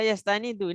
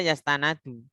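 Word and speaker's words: يَسْتَنِدُ: Istanada yastanidu. Ini bacanya yastanidu, enggak mungkin dibaca yastanadu. Kenapa, Ustaz? Ya karena di rumusnya yastanidu.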